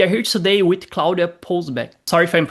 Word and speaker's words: Połuboczek: We are here today with Claudia Półboczek. Sorry if I'm mispronouncing. Claudia Półboczek.